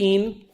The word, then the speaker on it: ene: So pent 3 ene. Keep going for me. 1 ine. And we never put the final E till the very end. So it's not, but that's still pronounced ene, not N.